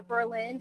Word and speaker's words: Berlin: So Kataba Island 45 mph winds 43 for Port Clinton Berlin height or Berlin height. I know that the Berlin down to the south is pronounced like that. So is this Berlin or is it Berlin?